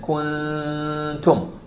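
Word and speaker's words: كنتم: But in the word kuntum, I'm saying kuntum. I'm not doing anything to the ta. The ta is pronounced like normally. Tum. I'm not saying tum.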